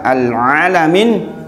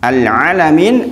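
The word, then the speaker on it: الْعَالَمِينَ: besar yang kedua adalah alalamin dibaca alalamin ya alalamin artinya alam semesta tapi kalau al alamin pakai Hamzah artinya berpenyakit atau penyakitan bayangkan berarti kalau jenengan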